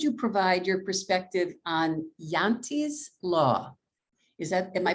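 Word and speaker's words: Jante: the question could you provide your perspective on yante's law is that am i pronouncing that right yes and how that how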